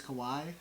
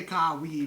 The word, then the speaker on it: Kawhi: just to clarify we know his name is Kawai oh we're very aware we know how to pronounce it but we we we just say it we just say kawi because it's more fun to say you know